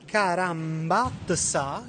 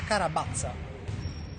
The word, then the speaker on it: Carambazza: Noi abbiamo qui Carambazza, che in realtà si pronuncia Carabazza. Ok. Quindi mb, che diventa b.